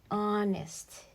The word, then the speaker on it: honest: honest and honest okay this starts with a consonant okay however if we listen to it again it starts with the ah sound okay ah honest it's silent h that's why an honest